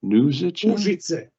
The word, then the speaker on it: Užice: Užice.